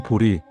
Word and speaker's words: 보리: 첫째, 보재는 왜 보리로 읽히는가? 범어 원음은 보디입니다.이 보디를 한자로 옮길 당시의 발음을 봐야 합니다.